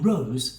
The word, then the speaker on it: row: For example, my students sit at desks in rows for most of the time. Then, when pronounced like now, row means a loud, angry argument.